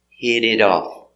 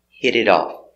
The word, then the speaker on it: hit it off: hit it off pronunciation these T's are pronounced like D's because they're between vowels hid hided hid it off hid it off the same in present